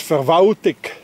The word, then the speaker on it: Verwaltung: In Bern, that's being pronounced as Verwaltig. Anybody hears an L? No, it disappeared.